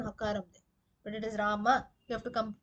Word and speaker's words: Rama: As per Sanskrit, the right pronunciation is Rama. It's not Rama, no Akaram. At the same time, no Ram. It's not half. So Rama is the correct pronunciation.